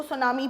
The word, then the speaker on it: tsunami: ये आपका हो लिखा जाता है TSUNAMI। इसके अंदर टी है वो साइलेंट होता है, तो हम इसको सुनामी पढ़ते हैं।